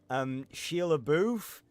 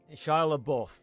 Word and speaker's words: Shia LaBeouf: watch, Sheila, I can never remember how to pronounce his name. Sheila Booth? Shia LaBeouf? Whatever. Fucking, yeah, Charlie Buff. But yeah, I can't fathom how anyone would... Shia LaBeouf.